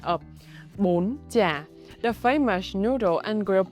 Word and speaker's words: bún chả: Apply the high raising tone on bún and the sharp, short, high tone on chả. Pronunciation mechanics. Step-by-step guide. The word bún chả, 2 syllable.